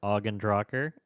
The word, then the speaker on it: ogNdrahciR: Uh, my name is or Drocker. Uh, if anyone ever hosts in the future, it's pronounced Augendrocker.